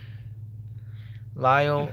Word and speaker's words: Lisle: Lyle is the way. Yeah, see, Lyle is correct way to say it.